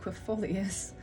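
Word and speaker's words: aquifolius: us quit fulfoleus that's how you say it quefolius okay and the other magical names are batswing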